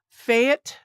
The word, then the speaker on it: Fajt: rec room uh Nick and I've heard it pronounced several ways now so I'm gonna go with Fayette um the why J sounds like a y somebody told me so that's what we're going with Nick Fayette of rec room um he is CEO and